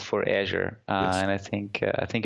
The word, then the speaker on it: Azure: because this technology I've I call Azure based on the color at least the pronunciation over here I've heard Azia I've had heard azour uh what else what